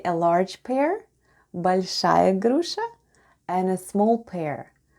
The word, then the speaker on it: большая: The first sound is b, then we have o, which is unstressed and is pronounced as a, then goes l, soft